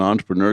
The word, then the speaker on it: entrepreneur: it's it's it's pretty it's spelled e n but it's pronounced on because he said because it's french so i wrote i